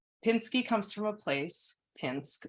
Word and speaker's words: Pinsky: Pinsk had a river, a sawmill, but where I grew up, Pinsky with a short I was a local name.